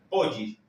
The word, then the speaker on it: pode: Entonces, la D con la I se va a pronunciar una mezcla de una D con una Y, y a veces al leerlo rápido ni siquiera la D se siente. Poggi. Lo podemos leer Poggi, Poggi, Poggi.